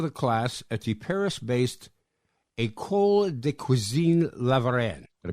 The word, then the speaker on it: École de Cuisine La Varenne: management, top of the class at the Paris-based École de Cuisine La Varenne. Did I pronounce that correctly?